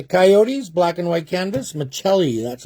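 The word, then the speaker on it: Maccelli: Machelli, that's how you pronounce it.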